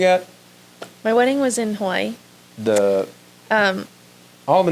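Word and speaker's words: Hawaiʻi: And then there's the island of Hawaii, or Hawaii is actually how you pronounce it.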